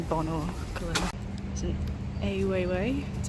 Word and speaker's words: Weiwei: There's an Weiwei, that's how you say it, exhibition on over there.